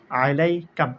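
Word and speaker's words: عليك: আইন জবর আহ, লাম ইয়া জবর লাই, আলাই। কাব জবর কা, আলাইকা।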